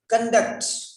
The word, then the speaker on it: conduct: Conduct, conduct, same word, different pronunciation. Conduct, conduct. Conduct is a verb. Conduct is a noun.